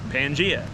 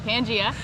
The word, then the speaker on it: Pangea: Pangea. All right, Pangea, began to break apart to form the separate continents that we see on Earth today.